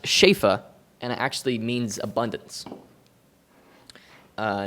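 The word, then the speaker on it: שפע: in it it's a hebrew word uh it's pronounced shafa and actually means abundance uh it's the hebrew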